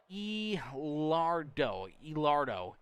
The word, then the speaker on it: Elardo: Jonathan in the chat says 3-car pronounced Elardo. Okay, I'll try to remember that. I know it was gonna be something different than what I was reading. I think, what was I saying? Elardo? I think I was saying Elardo.